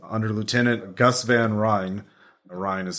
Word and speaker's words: Ryn: Ryan is spelled R-Y-N.